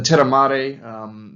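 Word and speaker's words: terramare: of people was called the uh terramere or terramari culture if you're going to pronounce it the Italian way the tiramari they lived probably between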